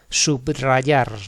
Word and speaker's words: subrayar: La R que hay detrás de los prefijos, app, sub, post, pertenece a una sílaba distinta y el sonido que representa es múltiple.